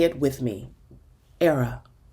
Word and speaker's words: Airea: that ghost I honor say it with me era rhymes with Sarah Sarah from the Latin meaning a